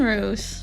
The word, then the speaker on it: Roos: Tessel en Roos, jullie zijn de volgende. Tessel and Roos. Or they pronounce it Roos.